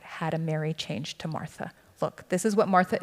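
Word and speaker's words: Μάρθα: The accent's supposed to be on the first syllable. Martha.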